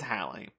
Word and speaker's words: Halley: one in its house it is halle so we're just stupid wait hang on when your name is halley and it gets mispronounced as haley for 50 years anyway the doctor